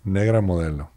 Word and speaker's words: Negra Modelo: It was Negro Modelo. So good. How do you say it? Negra Modelo.